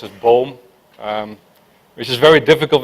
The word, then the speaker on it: Boom: lot of questions uh it's actually a Dutch name it's uh means tree